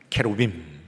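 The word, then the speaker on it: כרובים: 원래 원문 그대로 발음을 하자면 캐루빔.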